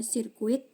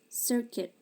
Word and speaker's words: circuit: Ini bukan dibaca sirkuit tapi circuit.